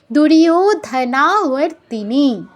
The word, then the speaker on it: দুর্যোধন: ইকে ইয় বলতে হবে এটা কিন্তু বাংলা বাংলায় হলে হতো দুর্যধনা কিন্তু সংস্কৃত যেহেতু তাই আমাদের কি বলতে হবে দুরয় দুরয় দূর বা দুর্য নয় দুর্যয় ওতে দীর্ঘ হবে দুরয়ধনা নাতে দীর্ঘ হবে র্তিনি নিতে দীর্ঘ হবে